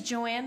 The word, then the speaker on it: Joan: My middle name is Joanne, but it's spelled like Joan because it's Swedish.